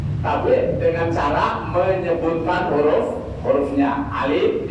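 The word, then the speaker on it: ألف: Alif dibaca alif, bukan A gitu maksudnya ya.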